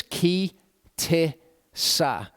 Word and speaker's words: Ki Tisa: r sound and then that hebrew letter there is an alif and it just takes on the sound of the vowel uh that comes before it so it's ki ti sa to pronounce it and